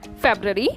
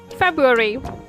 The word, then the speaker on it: February: Generally, it is called as February or February. Well, it's not pronounced like this either way. The correct way of pronouncing this word will be February. The letter R would be silent here.